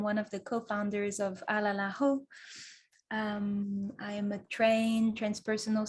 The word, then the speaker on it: Alalaho: It's probably slightly easier than our name, which people really struggle with. Just for the record, it's Alalaho, in case you hadn't quite caught on to it.